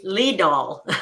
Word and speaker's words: Lidahl: with you too and my name is pronounced lee doll i'm neglected to tell